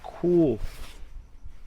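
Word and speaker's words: Chul: Found my first pair of Cool pants. Cool is spelled C-H-U-L.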